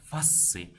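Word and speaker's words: faciei: Мына жерде сіздер фейс деп оқымаңыздар. Қалай тұр, солай айта береді. Фасци.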